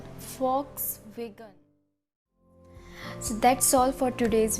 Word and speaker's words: Volkswagen: No, here we will be spelled as F because it's a German name, so it will pronounce as Volkswagen. Volkswagen.